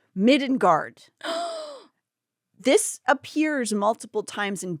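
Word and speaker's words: middangeard: The old English version is pronounced midenguard.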